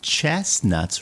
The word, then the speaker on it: chestnuts: In the center of this picture, we can see chestnuts roasting on an open fire. These are chestnuts. Chestnuts. This T is silent, okay?